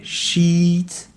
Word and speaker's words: sheet: C'est la différence entre le i long et le i court dans shit, i court, et sheet, i long, qui veut dire complètement deux choses différentes.